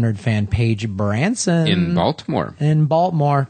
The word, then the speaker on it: Baltimore: In Baltimore. Don't pronounce the T.